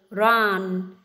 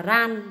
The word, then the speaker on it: run: Từ thứ hai đó là từ run, run, run, âm r, con không phải đọc là ran, ran, ran đâu nhé.